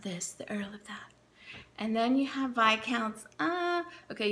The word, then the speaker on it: Viscount: and then you have by accounts oh okay you don't pronounce the S if you pronounce the